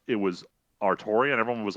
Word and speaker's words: Altria: So her name, when pronounced in Japanese, is Altria, is the English pronunciation of the female Arthur.